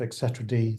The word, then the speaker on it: etcd: customer requirements and the version of Etc D that we use um or etcd depending on your pronunciation um uh we need